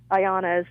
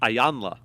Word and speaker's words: Iyanla: Is that this show that Oprah runs, that counselor, Ayanna, how do you say her name? Iyanla.